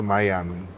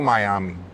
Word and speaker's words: Miami: Yeah, and then after all of that, I moved to Miami. Bro, you're like a jet setter. Yeah, I Like, moved to. You have to say it like this. I moved to Miami.